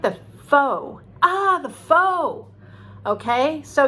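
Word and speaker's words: phở: food from vietnam called p h o which we pronounce as foe now apparently um it's pronounced fa in vietnam but i was at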